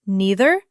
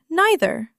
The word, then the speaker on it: neither: And just like either, you can pronounce it neither or neither. Again, neither is what you will hear most often around here in Ohio.